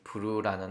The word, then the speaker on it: Vrew: 벌어지는데, 그런 걸 이 브루라는 앱이 해결해 줍니다. 주소창에 브루 홈페이지에 접속을 해 주시고요. VREW라고 해서 어떻게 읽어야 돼? 라고 했더니 브루라고 읽는다고 합니다.